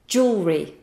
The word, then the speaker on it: jewellery: It can be quite tricky to remember this pronunciation. So, just think of this. Imagine an epic battle between a shell necklace and a jingly, jangly necklace. They do battle, or we could say they have a jewel.